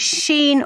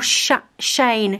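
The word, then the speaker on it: Shein: we talk about this do we call it sheen or shane shine s-h-e-i-n my friend said she calls it she in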